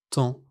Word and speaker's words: tant: Prenons trois mots simples. Tant, beaucoup, doigt. Regardez toutes ces lettres mais écoutez la prononciation. Tant beaucoup, doit.